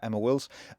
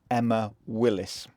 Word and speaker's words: Emma Willis: years I spoken to friends and family about Emma Wills only to realize on my visit that I've been pronouncing her name wrong the whole time some